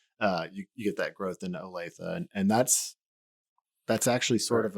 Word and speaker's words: Olathe: Is that how you pronounce it? Olathe? Yes. Yeah. You get that growth into Olathe, and that's actually sort